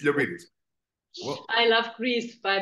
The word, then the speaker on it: Liopyris: You said my last name perfectly, Liopyris. Exactly. Critical. Like in the US, they would always pronounce me Liopyris. Or, it makes sense. It makes sense. But yeah, it's Liopyris.